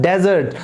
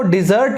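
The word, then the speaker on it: desert: First para first line, in द डेजर्ट। तो दोस्तों, इसको डिजर्ट नहीं बोलते, हम इसको प्रोनाउंस करते हैं डेजर्ट यानी कि रेगिस्तान।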